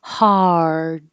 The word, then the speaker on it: hard: ugly foreign and then hard is the same ah as hot but your tongue has to curl back for the r hard hard just hold the